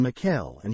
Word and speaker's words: Mikaela: The Messenger of Allah related a tradition in which he mentioned the words Jibril and Mikael and he pronounced them Jibrila wa Mikaela.